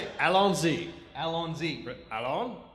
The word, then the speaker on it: Allons-y: Allons-y. Allons-y. Allons? So there's Al on Z, is that right? Yes, they go with that.